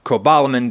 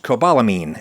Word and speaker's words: cobalamin: Cobalamin does not contain an amine group, which is why it would be technically incorrect to pronounce it cobalamin, as if it has a silent E on the end.